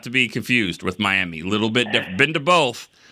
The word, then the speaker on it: Miami: you lived at Mi it's not Miami it spelled like Miami but it's miam very very northeast corner